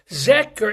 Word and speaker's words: Zecher: Zecher is pronounced with a K, but it's spelled like a H.